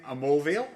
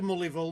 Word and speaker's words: Mulviel: Tim Amoreial. Have I pronounced your surname properly there again, Tim?